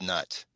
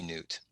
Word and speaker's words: Nut: Like N-U-U-T or I think it's pronounced Nut. Yeah. Maybe Newt.